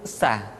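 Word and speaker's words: ث: Berikutnya huruf sa, diucapkan sebagaimana kita mengucapkan huruf sa, yaitu ujung lidah di antara dua gigi seri kita.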